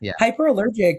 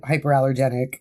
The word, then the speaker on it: Hyperallergic: It's hyperallergic. You got right the first time. Most people just say hyperallergenic.